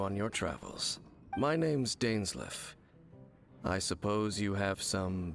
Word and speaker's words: Dainsleif: My name's Dainsleif. I suppose you have some business with me? I'm very sure your name is pronounced Dainsleif. Because it's a Norse name. Not English.